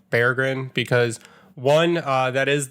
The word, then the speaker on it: Berggren: have to retrain our brains and stop saying Bergen and start saying bear grin because one uh that is the that is